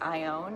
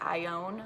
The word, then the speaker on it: Ione: asked me what is Ione, and they have a difficult time pronouncing it too. So I always tell them it's like, it's not Ion, it's not Ione, it's Ione, like I own a car.